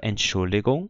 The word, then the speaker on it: Entschuldigung: A palavra Entschuldigung também ganha o G com o som de G.